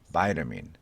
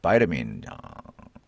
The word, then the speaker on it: vitamin: 자, 우리는 비타민이라고 하는데 미국 사람들은 바이타민이라고 그러죠. 바이타민이 아니라 vitamin. I bought this expensive vitamin. I bought this expensive vitamin. vitamin.